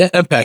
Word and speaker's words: EMPEQ: what is uh imp am I pronouncing correct imp yes uh imp EMP P EQ that's